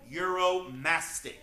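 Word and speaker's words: Uromastyx: very odd 70 name this is the Egyptian euromastic that is spelled u-r-o-m-a-s-t-y-x we call him Muro for short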